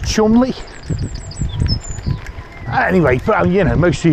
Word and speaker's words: Cholmondeley: Like on the Norwich branch, there's a lock and it's spelled Cholmondeley, and it's pronounced Chumley.